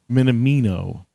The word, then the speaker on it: Minamino: and um taka minamino minamino that one I'm sure of because Japanese is pretty fanatic so minamino is probably it and you have both